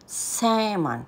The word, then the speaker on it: salmon: aking isang favorite ay Salmon Salmon silent L ito na naman ay